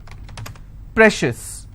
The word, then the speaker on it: precious: con con schis okay precious how many syllables again precious i will stress on prey same thing applies for